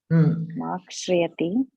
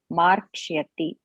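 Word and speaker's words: मार्क्ष्यति: Makshriyati. No. There is only one. There is only one ra. Markshyati. Correct. Okay. Markshyati.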